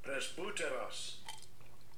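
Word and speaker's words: πρεσβύτερος: Press Buteros. Press Buteros. Press Buteros. That's how you say it in the Greek, all right? Got to roll that R.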